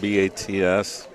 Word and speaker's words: Bats: In the middle of my name, you got B-A-T-S. Right. So it's Bats, but pronounced with a Z.